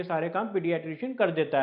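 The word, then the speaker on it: paediatrician: हमने कहा था भाई ध्यान दीजिए इसकी प्रोनाउंसिएशन पर, लिखते हैं इसको PAED है पर होता है पीडियाट्रिशियन। या अब वो पीडियाट्रिशियन क्या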